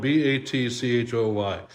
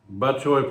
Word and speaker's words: batchoy: I'm probably breaking all the batchoy rules here, but this is spelled b a t c h o y, batchoy.